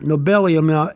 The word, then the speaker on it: nobelium: Nobelium is spelled capital N-O-B-E-L-I-U-M. Nobelium, like Nobel Prize, nobelium.